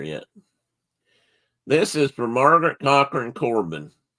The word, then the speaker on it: Cochran: This is for Margaret Cochran Corbin. And in Ireland, they say Cohorn.